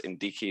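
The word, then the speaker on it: NDICI: i should say is ndk or indeci however to pronounce it is the neighborhood development and international cooperation instrument always referred to in brussels as in d key but kind of possibly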